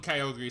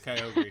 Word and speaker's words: Kyogre: yeah but she hates the fact that they call it kyogri sometimes so i like to say it's kyogre because it's official technically right i know but the